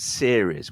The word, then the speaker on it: series: That's the ear vowel. Series. And the stress in this case is on the first syllable. Series. Yeah. And the next word, serious. So this word has three syllables. It's the same stress point at the beginning, serious. But instead of riz, we're going rius, serious.